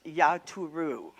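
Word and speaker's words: יתורו: But the 2 different words are, the first one in Numbers, it's pronounced Yaturu.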